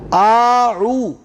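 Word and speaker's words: أعوذ: الف زبر آ پڑھیں گے ذرا، عین واو پیش او، آعو، یہ فرق ہے جی آؤ میں اور صحیح لفظ میں، آعو۔ اعوذ باللہ، اعوذ باللہ، اعوذ باللہ، من الشیطان الرجیم.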